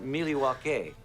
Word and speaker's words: Milwaukee: so fun in fact isn't milwaukee an indian name yes pete it is actually it's pronounced miliwake which is everything is